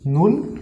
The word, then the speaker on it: null: in german language is null okay first of all the first two alphabets is n and u it will be nu and double l will be low okay so okay then the